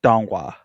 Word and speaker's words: Donghua: Believe it's pronounced Donghua. So Donghua. Donghua would be what animation is in China.